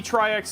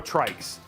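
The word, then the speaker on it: Tryx: It's not, it used to be Tri-X, it's now Trikes. They have since corrected people, but the right way to say it is Trikes. TR, like Trikes, as in like a tricycle.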